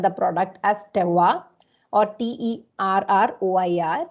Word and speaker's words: terroir: And in French, they call this particular feature the link between the place and the product as terroir, or Terroir. It's pronounced terroir.